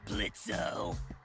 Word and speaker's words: Blitzo: Uh-huh, sure, Blitzo. The O is silent now, bitch.